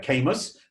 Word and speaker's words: Camus: Not to be mistaken, if you ever see the spelling of Camus, it's C-A-M-U-S, sometimes confused with Camus of the Napa Valley fame, but this is pronounced Camus, and it is the House of Cognac.